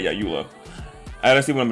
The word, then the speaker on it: Eula: Not Eula. That's not her name. Wait, is that her name? Wait a minute. No, I said it right. Yeah, Eula.